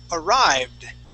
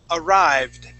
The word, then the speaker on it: arrived: would said arrived okay just remember with that Ed ending and if the word ends with a V sound that D sounds like a uh that e d sounds only like a d okay um now